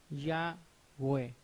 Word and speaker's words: Yahweh: Lo cual sabemos que estas 4 letras son Yod, E, Waw, E, y esas 4 letras pronuncian Yahweh.